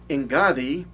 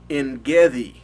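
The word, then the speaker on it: Ein Gedi: Ahora, en Gadi, modernamente los judíos lo pronuncian en Gedi, ¿ok?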